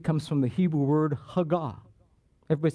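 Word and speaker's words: הגה: Meditate comes from the Hebrew word hagah. Everybody say that. Hagah. Hagah. The syllabus, the emphasis is always on the last syllable.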